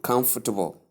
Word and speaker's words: comfortable: comfortable please it's not pronounced that way the stress comes only on the first syllable and then the other